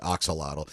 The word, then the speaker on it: axolotl: just call it or just pronounce it axolotl.